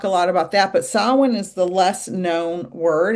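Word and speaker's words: Samhain: So Halloween um you know we're going to talk a lot about that but sawin is the less known word and it's spelled like Sam Hayne but it's pronounced sawin.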